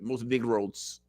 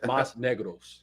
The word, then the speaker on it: más negros: Most negros. No, most negros. Más negros.